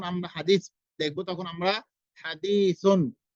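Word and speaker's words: حديث: উচ্চারণটাই করতে হবে আপনাকে যেমন ধরেন আমরা কথায় কথায় বলি হাদিস তো আমরা হাদিস যে বলি দেখা যাচ্ছে হাদিসের উচ্চারণটা আমরা বাংলা ভাবে করতেছি কিন্তু হাদিস বানানটা কি আছে হাদিস তা রয়েছে হাদিস হাদিস ভালো করে বোঝার চেষ্টা করুন হাদিসুন হাদিসুন তা কিন্তু আমরা হাদিস স্বাভাবিকভাবে বলে দিচ্ছি যেটা আমাদের বাংলা উচ্চারণে বাংলার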